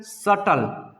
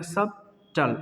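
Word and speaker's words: subtle: ये हो जाएगा सटल। बी है, बी को साउंड नहीं करेंगे, क्या हो जाएगा? सब टल, सटल, ठीक है।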